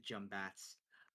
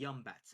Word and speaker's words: Yumbat: Yeah, it is actually pronounced Yumbat. But the young folk, they are losing the accent. They are now saying Jumbat.